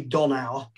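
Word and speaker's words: Dhonau: at flood mary um and she is called mary don our which and it's spelt d-h-o-n-a-u uh but if you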